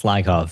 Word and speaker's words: Lyakhov: Yeah, you you actually were probably one of the first people to pronounce it right. It's Lyov.